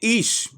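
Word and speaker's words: אִישׁ: La palabra hombre en hebreo se dice ish, del Strong H 376, del Gran Diccionario Enciclopédico de la Biblia, no del Strong.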